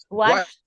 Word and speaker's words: washed: You are pronouncing ED. In this group, we don't pronounce the ED. We pronounce the T, Ms.